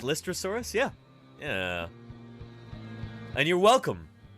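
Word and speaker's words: Lystrosaurus: anyway very cool and is that how it's pronounced listrosaurus yeah yeah and you're welcome you're very welcome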